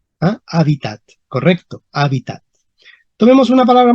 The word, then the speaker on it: hábitat: dicen Okay esa palabra la h en latín ya casi casi no se pronunciaba entonces para p 0 no vamos a pronunciar la H Entonces vamos a poner simplemente a pi Okay hábitat y dónde estaría el acento Ah correcto hábitats cuidado en español moderno decimos habita pero la tinera hábitat Ah hábitat correcto hábitat